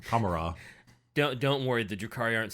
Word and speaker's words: Commorragh: I don't like to pronounce the GH, because if Wa isn't pronounced that way, then Commorragh.